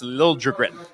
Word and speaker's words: Liljegren: Yeah, it was Liljegren, and then he wants it now pronounced Liljegren.